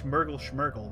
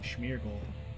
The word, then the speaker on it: Smeargle: to smash that other why would your name be myrtle schmerkl that's not how you say the name smeargle why would you spell